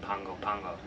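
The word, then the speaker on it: Pago Pago: p-a-g-o-p-a-g-o but I guess in Samoan the G's are pronounced with an N so Pongo Pongo um I had this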